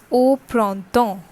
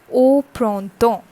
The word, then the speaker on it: au printemps: O, that is AU, and it has sound like O. O. Okay, collectively it is said like au printemps. Au printemps.